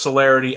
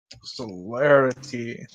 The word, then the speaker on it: Celerity: is celerity conspiracy solloway solaris it sounded like it starts off like the words solar but it's like celery everybody makes one put